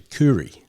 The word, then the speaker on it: Khoury: And in Syria, it's actually Kuri. But when I think Dad was trying to pronounce it, he says Elkhoury in Arabic, which is the Kuri.